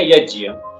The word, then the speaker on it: यज्ञ: रहे हैं जी क्योंकि वो यज्ञ नहीं है वो यज है ज और य का संयोजन है तो जो जिस अक्षर से बना हुआ है उस उस वैसा ही उच्चारण करना चाहिए तो जैसे जो कई